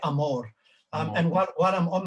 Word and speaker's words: Amor: name pronounce her name well in a south african way you would say amor um and while i'm